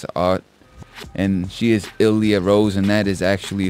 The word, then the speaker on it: Illiyah: That's ILLIYAH and then just Rose. So it's pronounced Illiyah or Illiyah. Ill. Yes, ill. Ill.